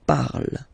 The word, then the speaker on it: parle: pronounce it is je parle, parle. So remember, we put it, okay, but then we don't really pronounce it, je parle, okay.